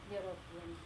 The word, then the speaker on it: European: आ रहा है, इसका फोनेटिक साउंड यो ऐसे आ रहा है, वाई यू से आ रहा है, ठीक है. तो जब वाई यू से आ रहा है, इसका मतलब ये ई साउंड यहाँ पे प्रोनाउंस नहीं हो रहा है, इसलिए हमने ही इज़ नॉट अ यूरोपियन.